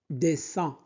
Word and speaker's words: dessin: Dessin, dessin, IN se prononce un.